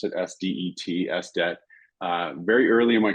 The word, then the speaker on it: SDET: And I became an SDET, that's how I pronounce it, SDET, SDET, very early in my career and loved it.